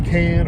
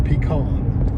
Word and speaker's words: pecan: Pecan or pecan. Oh. They're yes. both appropriate. Matter of fact, they're regional. It's whatever region you were raised in.